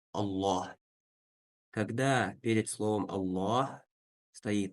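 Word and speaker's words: الله: Буква лям бывает твердая, единственное в слове Аллах. То есть мы произносим ее через О, Ла, Аллах.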